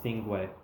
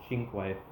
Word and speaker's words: Cinque: That's actually how you pronounce this thing, not Cinque, not Cinque Roadster. It's actually pronounced Cinque.